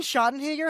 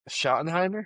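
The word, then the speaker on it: Schottenheimer: I don't know how to pronounce his last name. Brian Shottton, whatever. Shottenheimer. shot. That's what I said. Shut off. There's no You You said a G in there.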